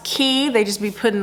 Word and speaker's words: Quay: sponsored by key Bell q-u-a-y so for some reason it's pronounced key they just be putting letters together Quay no it's key key offers stylish and